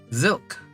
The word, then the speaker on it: Zylk: His name is Zilk. Like silk spelled with a Z.